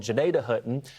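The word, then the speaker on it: Gnadenhutten: toward places like Tuscarawas County, toward what's called Janadah. That's how you pronounce this city name. I used to live there. There you go. You used to live there. I used to, well, not specifically Janadah, but nearby, I used to close enough.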